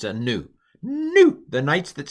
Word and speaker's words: nu: like a V it's a n it's a new new the knights that say new uh I'm going to pronounce it like an x uh Omicron or